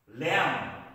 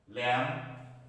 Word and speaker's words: lamb: to the today's discussion silent b in these words of them with the beast lamb this is not lamb lamb thumb this is not